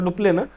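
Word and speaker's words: Dupleix: French जे governor होते Joseph francs डुप्ले असं होतं स्पेलिंग पण त्याला डुप्ले असं म्हटलं जातं डुप्ले यांनी सुरुवात केली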